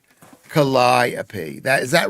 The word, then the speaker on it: Calliope: Calliope, not the, that's Gallipoli. Calliope, Calliope.